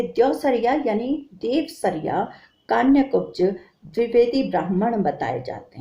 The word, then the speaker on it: देवसरिया: वे द्यौसरिया यानी देवसरिया कान्यकुब्ज द्विवेदी ब्राह्मण बताए जाते हैं। द्यौसरिया जो है वो आंचलिक उच्चारण के प्रभाव में बोल दिया जाता है, असली शब्द है देवसरिया।